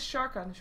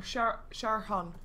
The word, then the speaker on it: Sharkan: I would say Wapta, but it is Sharkan, or Sharhan even.